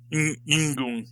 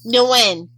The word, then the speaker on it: Nguyen: I don't know how to pronounce the NG together. Yingoon. I guess that'd be Ying. Anyway. It's like Diane from BoJack Horseman. Yeah. Nguyen. Nguyen, thank you.